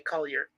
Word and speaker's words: Collier: The Vineyards so yes that's how I was able to determine that was pronounced that way colar yeah because otherwise they spell it yeah because otherwise they spell it c o l l i e r is the other way they do it too that's the first spelling